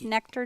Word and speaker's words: Nekter: honor fight yeah yeah so and it's just nectar calm and its nectar juice bar any keer we spell it phonetically next darrenniki n EK ter juice